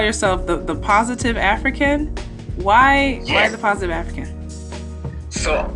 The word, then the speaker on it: AfriKen: So every time you hear the term African when we're speaking, it's spelled A-F-R-I and then Ken, K-E-N.